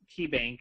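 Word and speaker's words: Caye: And actually, KeyBank is spelled C-A-Y-E, bank.bz, for Belize.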